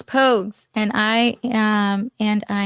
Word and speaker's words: Pogues: Um, Mom's Mystery M actually pronounced like the 80s Irish band. I'm going to butcher it again. Po Pogies or Poges. Oh, Rogues. Pogues.